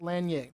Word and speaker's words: Lanier: living icon in Black history, Miss Carlotta Wells Lanier.